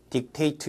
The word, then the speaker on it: dictate: 그러니까 dictate 이렇게 발음해야 되겠죠.